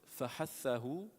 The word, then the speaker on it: فَحَثَّهُ: But how to pronounce it is فَحَثَّهُ.